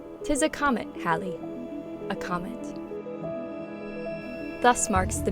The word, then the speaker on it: Halley: However, most with the same last name in England today pronounce it to rhyme with valley, so this is a good starting place.